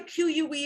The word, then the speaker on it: que: happens when you see in reading q-u-e sounds like que okay and q-u-i is going to sound like key now the thing that's